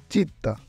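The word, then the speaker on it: città: বাংলায় যুক্তবর্ণের মতো আকুয়া চিত্তা চিত্তা চিত্তা বাংলায় ত ত যুক্তবর্ণের মতো এই ক্লাসের মাধ্যমে আমরা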